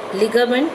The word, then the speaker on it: ligament: So ligament, l sound you have to stress.